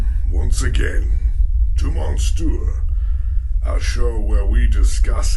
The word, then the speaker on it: Monstieur: Just Monstieur. Monsieur, like we're all French, but we're not.